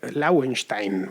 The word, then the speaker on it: Lauenstein: Los autores del corto, por cierto, que dices de la pronunciación en alemán, son Christoph y Wolfgang Lauenstein.